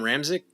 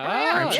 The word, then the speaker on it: Ramczyk: but I'm gonna give some respect to Ryan Ramsey. Oh, Ramczyk. Yeah, all right, cool. Ramczyk tackle.